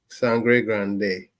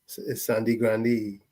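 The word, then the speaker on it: Sangre Grande: spelled San GRE Grande sanre Grande is it San GRE Grande or Sandi Grande well it's spelled San GRE Grande but Trinidad local Palance s grandi Sandi grandi but it's sanre Grande okay in espan Caribbean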